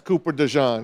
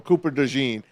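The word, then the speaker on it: DeJean: do you like him I think it's Cooper de but you know you could call him either one um I like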